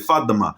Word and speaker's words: Fatima: But you know it's Arabic, so you pronounce it Fatima.